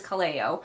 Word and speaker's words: Kaleo: my comment section corrected, I've been saying it Kaleo this entire time, but actually it is Kaleo. I've even heard Jenna pronounce it multiple times. It never stuck in my brain. I'm putting the emphasis on the wrong syllable.